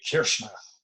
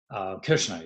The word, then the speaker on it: Kirchner: linoleum this is really done my best to pronounce these names correctly this is Ernst Ludvig Kirchner Kirchner you may have heard all this a landscape